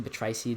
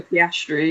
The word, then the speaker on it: Piastri: Oscar Petraci, the Aussie, doing the Aussies pre-art. Oscar Piastri, yeah.